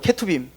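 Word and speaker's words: Ketuvim: 케투빔. 이건 스펠링 한번 찾아보세요.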